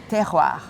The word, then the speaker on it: terroir: word that I'm not going to try to pronounce. Could you, about this, please? Yes, terroir.